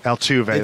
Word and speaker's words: Altuve: Do you pronounce it Altuve? Or is it just Altuve? Altuve. That's what I thought.